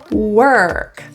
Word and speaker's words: work: r it's our place work the issue in this word is always the r that R is curled so feel the tongue tip curl back were work the O is pronounced